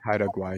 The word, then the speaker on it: Haida Gwaii: I believe it's pronounced Haida Mike, did Hi, Guai. Haida Gwaii, yeah.